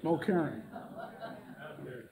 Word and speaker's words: Mulkerrin: Mulkerrin.